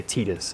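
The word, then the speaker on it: Tidus: what i'm naming titus or i should say titus is how his name is pronounced and there was one particular one that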